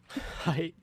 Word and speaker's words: height: One says height. Height. Height. Enunciate your T's.